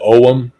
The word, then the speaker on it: Ogham: I believe over there they pronounce it Ogham. I'm American, so when I see a G, I say it, Ogham.